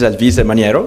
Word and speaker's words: Alvise Maniero: My name is Alvise Maniero. Thank you. You pronounced it correctly.